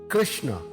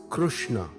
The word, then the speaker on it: Krishna: in the bhagat Gita are Krishna and Arjuna Krishna is pronounced as Krishna in D nagari with the root sound Ru